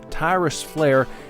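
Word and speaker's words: Tyris Flare: ax battler Tyrus Flair not not like flair like Ric Flair this is spelled f-l-a-r-e uh Tyrus flare and gillius Thunderhead ax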